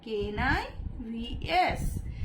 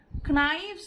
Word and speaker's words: knives: The knives, KNIVES। এখানে কে এর সাউন্ডটা কিন্তু সাইলেন্ট। knives বললে ভুল হবে, আমাদেরকে knives বলতে হবে।